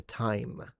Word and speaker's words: time: went from E, so like time initially started as team team. Then it went to tame, and then it went to time. And then possibly in some areas even more nasalized to time.